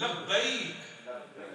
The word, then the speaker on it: لبیک: بھی عرض کروں کہ لبیک کے تلفظ جو ہے وہ صحیح ادا کرنے چاہیے. بڑے عجیب و غریب لوگ تلفظ ادا کرتے لبیک, وہ ایسے جیسے پتہ نہیں کیا آواز آئی ہے. یہ عربی تلفظ جو یہ عربی الفاظ ہیں, زندگی میں ایک بار آپ نے کہنے ہیں تو کیا عجیب و غریب اور آپ لہجے ہوتے ہیں لوگوں کے. صحیح تلفظ لبیک, ہاں میرے ساتھ مل